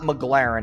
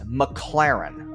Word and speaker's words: McLaren: It's not McLaren, it's McLaren.